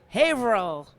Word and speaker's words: Haverhill: Haverhill is that am I saying it right Haverhill damn Boston people Massachusetts out there do not